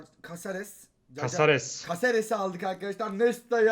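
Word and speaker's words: Cáceres: Caccares. Nasıl okunuyor abi? Kasares.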